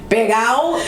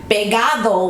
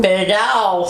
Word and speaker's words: pegao: Pegao is the Puerto Rican or Hispanic slangish way of saying... Pegado.